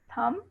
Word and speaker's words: thumb: Silent B usually comes after an M. Okay, climb, not climb. Climb, comb, crumb, thumb, and tomb. Please say it again.